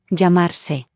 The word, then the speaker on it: llamarse: The verb to call oneself in Spanish is llamarse, remember that double L is pronounced y, so this word is llamo.